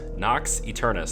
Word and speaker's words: Nox Eternus: disease this is our nox externus our eternus Knox eternus that's how you say it um so this is